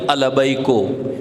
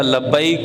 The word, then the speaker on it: لبیک: کر پا سکتے تھے۔ لبیک البیکو، میں کہتا لبیک، وہ کہتے البیکو، یعنی وہ پوری زندگی